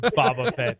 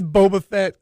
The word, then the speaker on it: Boba Fett: I'm still wondering if you should strike him from the book for this, with Boba Fett.